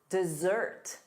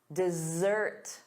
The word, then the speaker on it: dessert: And then two S's, sweets, chocolate, dessert, dessert, dessert. The syllable stress is on the second syllable, da-da, dessert.